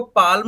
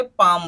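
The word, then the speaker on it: palm: इसी तरीके से यहाँ पर भी देखिए पी ए एल एम, तो ये क्या बना, इसको पाल्म नहीं बोलेंगे, पाम बोलेंगे।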